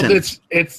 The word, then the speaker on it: poutine: It's got So the E is silent. Yeah. well, Poutine. it's French. It's from Quebec, so it's Oh.